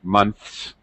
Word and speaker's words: months: and the S sound th here is voiceless so we're going to make it an S sound months um okay nths but